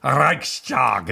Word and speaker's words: Reichstag: you tied that sure german would say to me no it's reichstag tell me that i'm saying it wrong but let's just say this is the anglicized version yeah okay so the